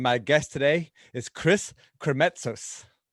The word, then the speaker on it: Krimitsos: This is the Extraordinary Podcast, and my guest today is Chris Krimitsos. Krimitsos, you said it right.